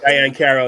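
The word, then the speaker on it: Diahann Carroll: Diane Carroll, yes.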